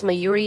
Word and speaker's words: Mayuri: of MyUI Sheena H her name is MyUI Sheena not Sheena and fine yes I can